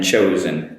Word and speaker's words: chose: The spelling as the O gets cut. So we're two O's in choose, get one O in chose and chosen, so the pronunciation changes. Choose with an U becomes a O for chose and chosen.